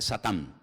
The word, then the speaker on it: Satán: En hebreo no se dice Satanás, se dice Satán, que significa adversario.